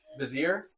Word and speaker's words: vizier: It's not visor. Okay, vizier.